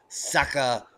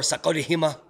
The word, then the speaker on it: Sakurajima: And down here we have Sakurajima or Sakurajima. But as it was pointed out, Sakurajima is how the Americans say it.